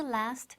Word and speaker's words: lasts: La mayor dificultad que suele presentar el verbo durar en inglés, to last, es la pronunciación de la tercera persona del singular, en presente simple, las. El sonido TS final es el mismo que se produce al chistar.